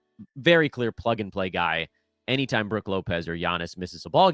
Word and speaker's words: Brook Lopez: Brook Lopez. That's how you say his name. Not Brook.